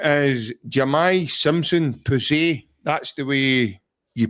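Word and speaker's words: Jahmai Simpson-Pusey: So his name is Jamai Simpson Pusey. That's the way you pronounce it, and that's the way he's...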